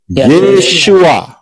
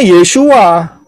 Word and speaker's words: Yeshua: Pengucapan di dalam bahasa Indonesia adalah tertulis Yeshua, betul? Ya benar, karena orang Israel ngomongnya Yeshua.